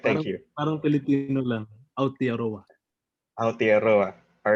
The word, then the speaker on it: Aotearoa: Did I pronounce that right? David is our resident. Mabilis. Aotearoa. All right, thank you. Parang Filipino lang. Aotearoa.